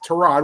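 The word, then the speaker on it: Tyrod: and said, uh, yeah, don't be shocked if Trod Taylor, and he actually used Terrod, which is actually the correct pronunciation of his name.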